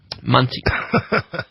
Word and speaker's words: Muncie: Muncie.